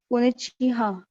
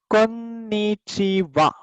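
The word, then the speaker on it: こんにちは: Konichiha. हाँ. अब ये जो हा है उसका प्रोनाउंसिएशन यहाँ पर वा होगा. लिखते वक्त हा लिखेंगे, प्रोनाउंस करते वक्त वा. तो ये होगा कोन्निचिवा.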